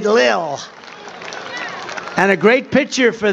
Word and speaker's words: Lil: pump l l Lil I said how do you pronounce that they said Lil and a great picture